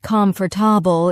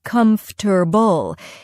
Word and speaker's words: comfortable: It's not comfortable. It's more like comfortable.